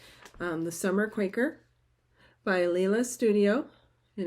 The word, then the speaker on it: Leela: The Summer Quaker by Leela Studio, and it is pronounced Leela. But as I shared a while back, I emailed her and asked her, and she's like, honestly, I don't care.